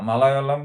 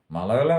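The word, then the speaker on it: മലയാളം: যেমন তামিল বা মালায়ালাম, এগুলো ইংরেজিতে লেখার ফলে ভাষাগুলোর নামই পরিবর্তন হয়ে যাচ্ছে। মালায়ালাম অ্যাকচুয়ালি উচ্চারণ মালায়ালম, মানে সেকেন্ড লটা অর্ডার মতো উচ্চারণ হয়, কিন্তু সবাই বলে মালায়ালম।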